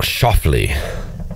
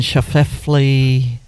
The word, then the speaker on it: Schauffele: It's pronounced differently than how it's spelled. Schauffele. Because I was looking Schauffele.